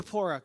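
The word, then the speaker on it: Zipporah: who gave his daughter how do you pronounce her name Z Zapora good thank you to Moses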